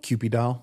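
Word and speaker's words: Kewpie doll: Cupid doll?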